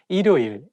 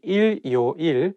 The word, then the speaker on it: 일요일: When the word has the same syllable at the beginning and at the end at the same time, it's not easy to pronounce. For example, 일요일.